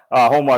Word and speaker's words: Joma: So that's Joma. And yes, again, or Homa. Homa is how it's properly pronounced, the Spanish pronunciation.